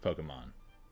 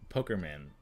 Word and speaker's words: Pokémon: because they could never comprehend that it's pronounced Pokemon like my my dad called them uh poker man uh my no no